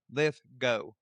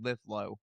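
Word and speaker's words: Lithgow: How do you say his name? I can't say. I don't remember. Let's see. John Lithgo. Lithgo. John Lithgo. Okay. I thought it was Litho, but no.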